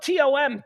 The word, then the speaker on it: Thom: He spells it the THOM way. It's spelled TOM, Tom.